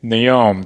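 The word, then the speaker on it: Noem: Christine Naom, so that's her name.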